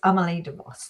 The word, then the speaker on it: Amali de Vos: Have I pronounced that correctly, Amali? You have. It's Amali de Vos.